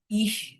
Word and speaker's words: ich: হি উচ্চারণ করার সময় জিহ্বার অগ্রভাগ তালুর সাথে লাগানোর ট্রাই করব।